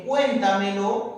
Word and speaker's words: cuéntamelo: Y en cuéntamelo, profesor, mira, en cuéntamelo se unen dos pronombres enclíticos. Se forma la palabra cuéntamelo. ¿Dónde estaría la tilde? ¿Dónde estaría ubicado en ese caso la tilde? En cuéntamelo estaría en la primera sílaba, ¿no es cierto?